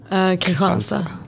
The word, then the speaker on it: Kristianstad: But it's spelled Kristianstad. Oh, it's spelled Kristianstad. Yeah. K'Hansa. But it's pronounced K'Hansa.